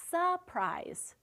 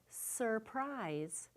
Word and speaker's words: surprise: Often we say surprise. I have a surprise for you. And we forget that r, but really, to say it correctly is surprise.